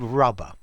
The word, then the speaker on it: rubber: and okay old rubber it's not rugger it's old rubber yeah rhymes with pub rubber dub dub rhymes